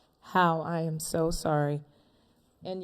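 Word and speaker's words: Hao: Hua? Is that correct? How is it spelled? H-O-A, I'm sorry. H-A-O? H-A-O, I'm sorry. All right. What is the correct pronunciation? How?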